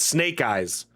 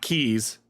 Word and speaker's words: Snake Eyes: Oh, it's Snake Eyes, right? Snake Eyes, not Keys.